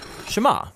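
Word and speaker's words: שְׁמַע: is hear or listen which in Hebrew is pronounced shama that's where the prayer gets its name now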